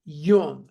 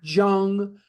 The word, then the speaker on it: Jung: Yung juu n g is pronounced Yung not Jung not Jung but Yung and he goes to